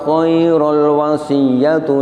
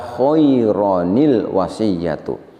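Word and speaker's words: خَيْرًا الْوَصِيَّةُ: Kita baca khairul dengan cara diidghamkan. Ini tidak pas. Yang betul adalah kita bacanya adalah dengan mengganti tanwinnya diganti dengan nun iwad atau ada yang menyebut dengan nun silah. Nun silah ini selamanya berharokat kasroh sehingga kita baca khaironil wasiyatu.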